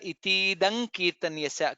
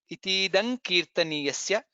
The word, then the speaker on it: इतीदं कीर्तनीयस्य: Itidam kirtaniyasya. Ka ka ga gha nga comes there. Itidam kirtaniyasya. That's how it is pronounced.